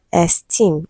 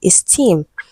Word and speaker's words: esteem: Option B we have esteem, stressed on the second syllable. Okay, so this word is not esteem, it is esteem.